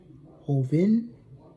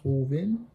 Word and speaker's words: Joven: uh which I did the low boost Reposado today we got the Lobos Hoven I guess I guess that's how you say it in Spanish Hoven Joven Hoven Estee Blaco